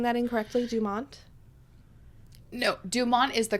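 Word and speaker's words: Dumort: I'm am i saying that incorrectly Dumont no Dumont is the correct pronunciation oh right where is how it's changed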